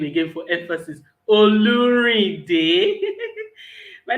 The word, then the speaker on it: Olurinde: and um i i really would like to pronounce that name again for emphasis oluri day my name is oluri i help people